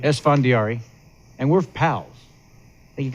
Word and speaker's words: Esfandiari: How would you pronounce it? Esfandiari. Esfandiari.